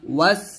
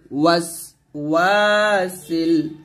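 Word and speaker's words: الْوَسْوَاسِ: এখন আমরা অনেক যে ভুলটা করি সেটা হচ্ছে ওয়াসে বলি, মানে সিনটাকে কলকলার মতো উচ্চারণ করি, ওয়াসে এরকম বলি, তো ওয়াসে বলা যাবে না, বলতে হবে ওয়াস ওয়া, এরকম ওয়াস বাতাস বের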